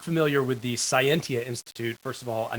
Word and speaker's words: Cyentia: uh if you are not familiar with the scientia Institute first of all I know it's a